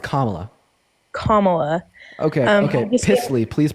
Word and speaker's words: Kamala: sorry my bad camela her name is pronounced comma comma okay okay plyy please